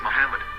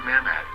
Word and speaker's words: מחמד: vowels, it can be read as Muhammad, which is the name of the Muslim prophet, or as Mamad with no A after the H. According to Ben Yehuda's Hebrew English Dictionary, it is correctly pronounced as Muhammad, not Mamad.